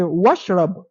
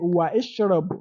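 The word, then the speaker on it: واشرب: example we have wa, you can just say washrab, washrab ma'am baridan, and drink cold water. You don't say wa ishrab. No, you don't pronounce it.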